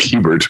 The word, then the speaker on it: Hebert: my last name uh it just looks like Hebert but my family is from Southern Louisiana so it's got that French Creole uh pronunciation that's a bear it's like the two roads a and bear put together uh I usually just